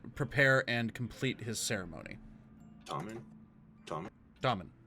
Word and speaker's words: Tormund: Tormund. Yeah, pronounced in Dwarvish, Tom.